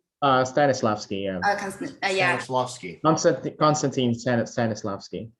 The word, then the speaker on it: Stanislavski: the interview, and I watched like was Constance Lasky. Stanislavski, yeah. Yeah, Stanislavski. Konstantin Stanislavski. Constance Right. Stanislavski. Yeah. Okay, that pronunciation is a little bit difficult for me.